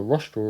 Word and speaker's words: rostral: so then rostral corner rostral rhymes with nostril so the nostril is